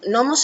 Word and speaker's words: nomos: Los gnomos es una cosa interesantísima, que se utilizaba incluso, nomos es ley. Y ¿Cómo se escribe? N-O-M-O-S. Nomos. No lleva G adelante.